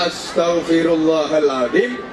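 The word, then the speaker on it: أستغفر الله العظيم: Bukan ash, itu sin besar, ash keliru tapi kecil, as. Kemudian te, ini beda dengan T karena T, astaghfirullahaladzim. Ini baru intelektual karena hanya berkaitan dengan kefasihan, berkaitan dengan tajwid.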